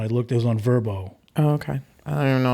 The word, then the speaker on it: VRBO: looked it was on verbo oh okay i don't know what that is yeah it's not spelled like verb oh it's vrbo so it's not the yeah v rb vrbo speedwagon see but but